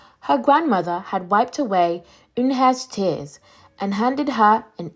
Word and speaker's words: Unhei: It's pronounced Eunhye. "Oh, it's you-hey," the boy said.